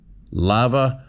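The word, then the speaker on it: Tava: First name pronounced like the old lava soap, and the second name like Ride an Hour. Hope this helps. Thanks. Lava.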